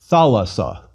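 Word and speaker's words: θάλασσα: Thalassa. Again. Tha, las, sa. And one more time. Thalassa.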